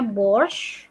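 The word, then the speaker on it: борщ: Bacanya borscht, borscht.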